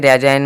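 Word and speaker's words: resign: रिजाइन आया ठीक है रिजाइन मतलब त्याग पत यानी कि जी का उच्चारण नहीं हुआ है आरई आई जी एन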